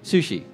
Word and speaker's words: Msushi: Sushi. Oh, the M is silent, is it? Yeah, like Bison.